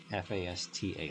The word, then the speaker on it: Fasta: It actually says Fiesta or Fasta, F-A-S-T-A, like faster, but spelled with an A at the end, Fasta.